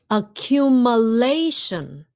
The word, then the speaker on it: accumulation: So it's lation, not lason. Accumulation.